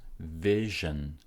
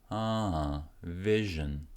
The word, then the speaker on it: vision: Stress goes in the first syllable, and then the second syllable gets no stress, so it's short. Vision. Vision.